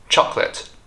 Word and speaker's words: chocolate: now about chocolate Chate chocolate so far I think you must have realized that these words either have silent letters or consonant clusters in them now these two concepts